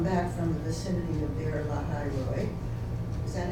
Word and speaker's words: Be'er Lahai Roi: Isaac had just come back from the vicinity of Be'er Lahai Roi. Is that how you say it? Well, it's actually Be'er Lahai Roi, yes.